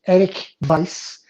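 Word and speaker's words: Erik Weisz: that time his name was eric weiss uh pronounced eric vice uh and he basically lived in appleton wisconsin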